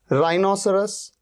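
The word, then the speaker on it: rhinoceros: exception भी होते हैं अत यहां पर देखिए राइनोसरस राइनोसेरॉस में या रितम में आप देख रहे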